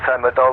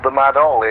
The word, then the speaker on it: TheMadOll: Well, it's made up from 3 words. It's TheMadOll. My nickname being Ollie. My actual name's Orlando. So you can pronounce it either TheMadOll or TheMadOll. It works either way for me.